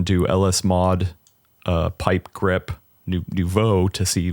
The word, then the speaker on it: Nouveau: No. Nouveau is how you say that.